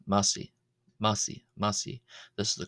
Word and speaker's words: ⲙⲁⲥⲓ: We have the Coptic word massi. Massi. Massi. Massi. This is the Coptic word for calf. Here the uh I is pronounced long. Uh is pronounced as as a long e vowel.